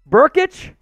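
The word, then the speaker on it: Brkic: sam at hey sam how do you pronounce the kicker's name for oklahoma burkich all right i guess that makes sense he's missing some vowels in his name oh man i'm sure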